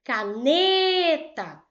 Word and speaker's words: caneta: caneta. Tá vendo? Eu chamei mais o N. Por quê? Porque o N é a sílaba tônica dessa palavra.